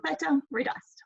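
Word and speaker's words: þetta reddast: you see written down that little p symbol that is pronounced th so feta redust okay going to iceland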